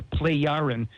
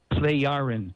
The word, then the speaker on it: Plejaren: Okay, well, these are the Plejaren, spelled P-L-E-J. The J is pronounced like a Y. Okay. P-L-E-J-A-R-E-N. Plejaren people.